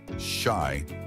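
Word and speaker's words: 四: weapons in Japanese culture the number four is considered unlucky because its pronunciation shy is similar to the word for death the Icelandic language has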